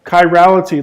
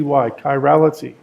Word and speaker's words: chirality: has a has a handedness what we call chirality let me spell that word for you CH i ra l ity chirality let me spell it again CH i ra